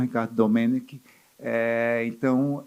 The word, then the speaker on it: Domeneck: A primeira coisa que eu queria eh ressaltar é porque somente hoje eu descobri que a pronúncia certa é Ricardo Domenic e não Domenec.